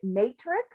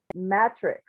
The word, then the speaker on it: matrix: You were saying matrix. And I was going to look it up in the dictionary to see, is it, I always heard it as a long A. So matrix versus matrix.